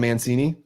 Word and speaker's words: Mancini: Yeah, Don Mancini.